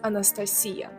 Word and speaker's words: Anastasia: we pronounce it as Anastasia and it's definitely not nasty it's nasta Alexander or Alexandra not